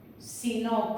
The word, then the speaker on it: sino: En castellano es una palabra llana también, no es una palabra aguda, ¿eh?